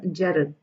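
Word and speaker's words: gerund: r u n d in fact D happens to be mute you are only supposed to say it as Jed like remove the D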